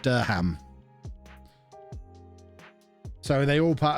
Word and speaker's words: Durham: Durham has the cathedral. Or as it should be pronounced, Durham.